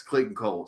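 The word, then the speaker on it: Clayton Cowles: did the letters yes Clinton Cole so we said I've looked at in confirmation from him that that's how you pronounce it sure okay anyway yeah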